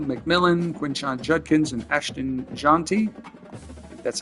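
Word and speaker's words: Jeanty: shadur Sanders teroa McMillan quinan Judkins and Ashton jonty that's how you say his name he one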